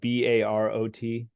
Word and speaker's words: Barot: Sorry, that's spelled like, is that Barot? Yes.